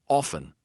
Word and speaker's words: often: Often, soften.